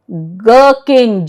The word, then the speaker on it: gherkin: H is silent when the word begins with G-H. Ghosh, G-H-O-S-H, Ghosh. Okay. Gherkin, G-H-E-R-K-I-N. Understood?